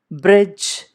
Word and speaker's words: bridge: Bridge, J. Please note D is silent in the word bridge.